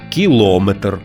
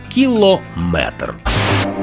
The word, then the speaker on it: кілометр: слів із частинкою метр буває кажуть кілометр сантиметр це неправильно у словах на позна міри довжини з компонентом метр завжди наголошуємо саме цю частину міліметр сантиметр дециметр кілометр кілометри чужих історіях я кілометри